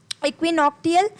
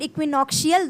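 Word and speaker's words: equinoctial: फिर इक्विनॉक्टियल, ये जो वर्ड है इक्विनॉक्टियल या फिर इक्विनॉक्शियल, दोनों ही प्रोनाउंसिएशन करेक्ट है।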